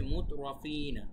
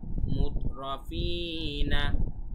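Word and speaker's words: مترفين: আচ্ছা, এই শব্দটা হচ্ছে মুতরাফিনা। এখন বানানটা কিভাবে করতে হবে আমি বলছি। মিম তা পেশ মুত, র জবর র, মুতর, ফা ইয়া জের ফি, মুতরাফি, নুন জবর না, মুতরাফিনা, মুতরাফিনা।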